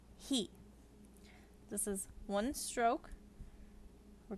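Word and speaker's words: へ: ha next is he not pronounced high it's pronounced he this is one stroke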